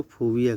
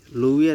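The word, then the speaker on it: fovea: क्या कहते हैं बेटा, इसको फोबिया कहते हैं, लोविया नहीं, फोबिया ये करेक्ट वर्ड है, लोविया नहीं होना, ठीक है।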